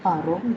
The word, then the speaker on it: parents: Parents would be Paron with the same spelling.